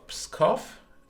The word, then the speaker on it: Pskov: Now, Pskov, as I assume now it's pronounced. Thank you, Visa, for the update on the pronunciation.